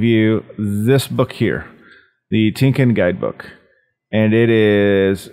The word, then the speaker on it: TYNKYN: I think that's right tinkin I believe us how it's pronounced so let's get to